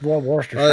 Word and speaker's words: Worcestershire: It's Worcestershire. I don't know why. The root word's Worcester, and then Shire is Worcestershire. So it's Worcestershire.